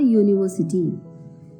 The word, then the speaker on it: university: Second example, a university. Though the first letter is a vowel, the sound of U is like a consonant.